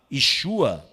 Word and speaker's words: Yeshua: Depois desse fuzuê que foi causado por esse judeu camponês chamado Yeshua é assim que se pronuncia eu encho a ou Jô ele foi